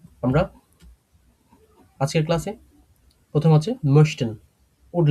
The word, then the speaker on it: möchte: এটা উচ্চারণ করতে গেলে যেখানে umlaut থাকে, umlaut থাকলে ঠোঁট একটু গোল করে, একটু লম্বা করে উচ্চারণ করতে হয়।